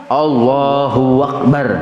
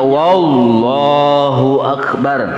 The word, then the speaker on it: Allahu akbar: Huruf waw qoblal jalalati, sebelum lafaz Allah dibacanya wallahu akbar. Salah. Wawnya jangan dibaca. Sebab bila ditambahi waw artinya demi Allah.